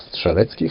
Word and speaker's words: Strzelecki: polish explorer paul edmund strzelecki or szczeletsky how we pronounce it climb the highest mountain